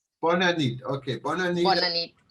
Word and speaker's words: bona nit: Yes, we said bona nit. Bona nit.